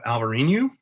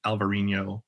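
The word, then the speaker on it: Alvarinho: for whites we have alvarinu uh which i think we all know as elvarino in portugal it's probably not pronounced alvareen it's probably pronounced alvarino in bordeaux um but i always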